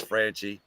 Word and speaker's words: Franchi: that's Gary franie yeah actually I think it's pronounced franie because it's spelled exactly the same way as the the company that makes sh it's fr he'll tell you it's franchy how he and he's in